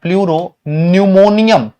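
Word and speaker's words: pleuropneumonia: इसका नाम होता है प्लूरो न्यूमोनियम। पी साइलेंट है इसमें।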